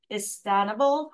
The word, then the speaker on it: Istanbul: So Istanbul's has been, again, I know I mispronounced something. So is it Istanbul? Istanbul?